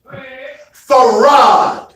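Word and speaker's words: Fard: to pronounce te te like he didn't know how to say the God's name farod yes sir even though it's spelled in English f a r d I ain't no Arabic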